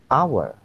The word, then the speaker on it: hour: dalam bahasa Inggris ini dibunyikan atau dibaca Hour Hour jadi vokal makanya didahului n bukan